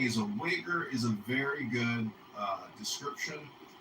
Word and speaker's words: Uyghur: I know what the joke was, but the actual pronunciation of their name, the Chinese group, the minority group in English, is this weird. Uyghur.